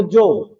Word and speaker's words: जोग: जैसे आप बोलते हैं योग को जोग, योग को क्या बोलते हैं जोग, संजोग को संजोग, यह किसमें बदल गया ज में।